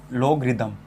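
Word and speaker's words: logarithm: देखिए स्पेलिंग पे ना जाए, लोगरिदम, जिसको हम शॉर्ट में बोलते हैं लोग।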